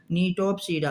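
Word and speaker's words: Gnetopsida: इसमें देखो जी साइलेंट है। यही तो इंग्लिश है। इसीलिए तो इंग्लिश को हम लोग ज्यादा पसंद नहीं करते। इसमें बहुत कुछ साइलेंट रहता है। संस्कृत में जो लिखा है वही पढ़ा जाता है। तो लिखा है जी नेटोप्स लेकिन पढ़ते हैं क्या? निटोप्स।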